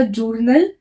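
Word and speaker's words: journaux: दे जुनो ठीक है इसमें एय एक्स लगाने से वर्ड का प्रोनाउंस भी चेंज हो जाता है पहले था जर्नल अब हो गया जूर नो ठीक है तो इसका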